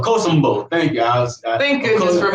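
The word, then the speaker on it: Akosombo: I butchered it. Okosombo. Okosombo.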